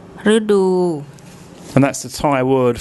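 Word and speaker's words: ฤดู: and then the next syllable is the dordek, the D consonant, and the long oo. Rudu, Rudu, Rudu.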